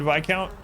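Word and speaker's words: viscount: uh i had only ever read the word vi count so i used to pronounce it counts until i i learned that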